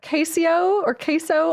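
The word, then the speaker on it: CaseOh: So we got Queso, I think is the Queso, pronunciation. that's correct. Oh, come for me, Queso. Like cheese.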